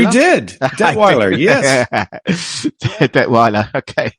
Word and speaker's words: Detweiler: Detweiler, welcome to the Dave Palma Show. Thank you, Dave. Thrilled to be here. Thrilled to have you here. Did I pronounce that right? Detweiler? You did. Detweiler, yes.